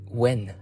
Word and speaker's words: Nguyen: David Nguyen, but they say it Wen. They say it as Wen. What do you think? It's spelled as Nguyen. And when I went to Vietnam, it says it is pronounced as Nguyen. But I don't know.